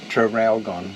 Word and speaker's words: Traralgon: So today we're going to the Holden Museum, in near Traralgon, I think is how you say it. Trafalgar, isn't it? Traralgon.